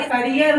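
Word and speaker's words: career: और करियर होता है, ठीक है, इसका प्रोनाउंसिएशन कैरियर नहीं होता। बहुत से लोग रॉन्ग बोलते हैं, इसको बोलते हैं कैरियर, दैट इज रॉन्ग।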